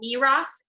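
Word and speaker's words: Meross: of my stuff so the his tablet doesn't pronounce the name quite right it's called miras m-e-r-o-s-s their products he has all throughout the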